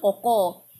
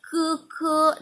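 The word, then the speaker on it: 哥哥: laki-laki dan kakak perempuan Kakak laki-laki bahasa Mandarinnya adalah ke kuku Kakak perempuan bahasa Mandarinnya adalah Ciecie Ciecie Biasanya kalau orang Chinese menyebutkan Kakak laki-laki itu kan koko kakak perempuan itu cici tapi dalam dialek bahasa Mandarinnya pengucapan yang benar adalah suku dan Ciecie Oke ada adik laki-laki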